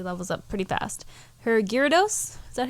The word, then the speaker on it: Gyarados: Her Gyarados, is that how you say it?